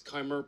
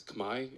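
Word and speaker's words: Khmer: the kimer civilization was is kimer pronounced today as Kamai in the Cambodian language you can ask a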